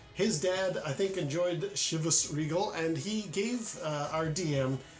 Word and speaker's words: Chivas: um similarly I never really knew how to pronounce c-h-i-v-a-s and shivas doesn't sound Scottish but it is apparently it's